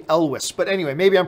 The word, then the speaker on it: Elwes: that's how you pronounce I've always said Cary eul's but apparently I was corrected it's supposed to be Elvis but anyway maybe I'm